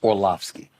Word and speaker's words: Orlovsky: First of all, it's Orlovsky. So you mispronounced his name.